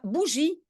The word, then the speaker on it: bougie: Je pense, bougie. Une bougie, oui. Voilà, il y a un I qui suit, donc je prononce J.